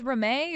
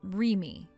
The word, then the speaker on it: Reme: Do you read that as Reme or do you read that as Remy? Huh? You're supposed to read that as Remy. Remy. So your name is Remy? It's spelled Reme, but you read it like Remy.